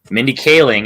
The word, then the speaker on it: Mindy Kaling: Eric darling okay and Malcolm I put bohizer Mindy Kaling is the pronunciation but the spelling was right so we'll